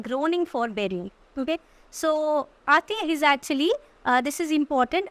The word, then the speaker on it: Ate: Okay, and all pity will be choked with custom of fell deeds, and Caesar's spirit ranging for revenge with ate or ate. Okay, ate is the right pronunciation.